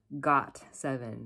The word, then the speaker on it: GOT7: how do you pronounce is it got7 it's pronounced got seven not got7 so this boy band is formed